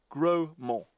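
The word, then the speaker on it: Grosmont: around it is called Grossmont but it's spelled much how the Normans would have pronounced it grow more meaning big hill the third Cornerstone of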